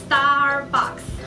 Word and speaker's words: Starbucks: 没有发到，它是念 Starbucks，要记得它有个 S，所